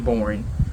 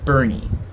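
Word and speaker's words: Boerne: used to be in Bourne Bernie sorry I say born because it's spelled like this and I will put it up and you will see why I say born you're not burning but it's in Kerrville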